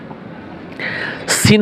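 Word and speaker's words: سين: বলে ওভাবে না যা সিন হরফ খুবই পাতলা কিস কিচ পাখির ন্যায় কিচকিস আওয়াজ আসবে এবং তিন আলিফ টান হবে সিন শিন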